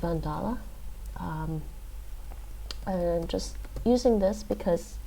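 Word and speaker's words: Van Dale: i often go to vandala punta now and yes english speakers would probably say vandal but it's pronounced vandala and just using this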